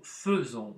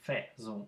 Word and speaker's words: faisons: Вместо обычного буквосочетания АИ, которое произносится как Э, у нас стоит буквосочетание АИ, произносится так же. Обратите внимание, это исключение в этом глаголе. Ну, faisons, мы не говорим faisons.